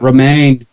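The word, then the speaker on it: Romijn: Romaine. Romaine. That's how it's pronounced.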